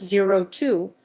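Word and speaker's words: 0²: the crystal shards as two pronounced zero two still retaining his ability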